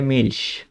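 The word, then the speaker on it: Milch: তারপরে মিল্ক মানে দুধ, এখানে দেখি কি, সিএইচ এর আগে এল আছে, আমরা কি শিখছি, এ ও ইউ এই তিনটা থাকলে শুধু খ উচ্চারণ হবে, এছাড়া যাই হোক তালিবস্য উচ্চারণ হবে, তাহলে মিল্স।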